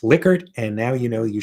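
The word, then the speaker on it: Likert: So you now know that it's pronounced liquor and now you know you should look up this guy Dan Zvinka.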